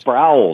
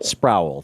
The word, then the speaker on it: Sproul: Sproul, is it pronounced? Sproul, Nathan Sproul. Sproul, thank you.